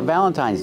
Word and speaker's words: Valentine's: so let's talk about Valentine's Day we say Happy Valentine's Day pronunciation use a long I at the end Happy Valentine's Day don't